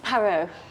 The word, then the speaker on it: Parrot: my name is Miss pero he's part wrote like the birds no no no not not parrot PA are are ot yes but it's pronounced perro the T is silent okay miss